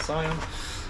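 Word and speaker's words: cyan: some inks um got magenta uh black and Sion pronounce it cion um they I think I pay 30p each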